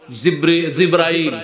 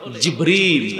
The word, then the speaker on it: জিবরিল: তারপরে আমরা বলি জিব্রাইল, কি বলি জিব্রাইল শব্দটা হলে জিবরিল আলাইহিস সালাম।